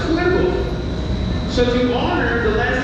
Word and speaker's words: cuervo: So Raven in Spanish is pronounced Cuervo.